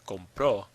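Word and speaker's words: compró: means I buy compro the stress is on the end it ends in a vowel so we put an accent over that vowel that's breaking the rule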